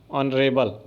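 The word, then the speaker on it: honourable: उच्चारण इसका किससे है? ऑनरेबल आ से है और भले ही यहां पर एच है तो आपका एन लग जाएगा क्योंकि उच्चारण अगर स्वर से होता है तो एन लग जाता है।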